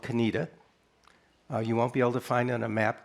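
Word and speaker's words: Conetoe: Reverend Joiner, who you mentioned in a little town called Canita. Uh, you won't be able to find on a map because it's spelled C O N A T O E,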